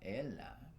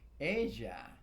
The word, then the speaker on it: ella: You know, it's not ella. It's just because it's double L doesn't mean it's pronounced like ella. It's ella es mi tía.